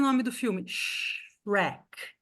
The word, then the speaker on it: Shrek: As pessoas falam xereque, né? Xereque. Em inglês isso não existe. Em inglês, quem chuta aqui quantas sílabas são? Tu, Shark. Uma. Uma. Uma. É Shrek. Shrek. Right. Então, assim, só tem uma vogal, gente. Só tem uma vogal, só é uma sílaba.